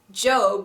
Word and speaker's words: Job: have job remember job in the Bible it's pronounced job because it's a man's name okay psalm starts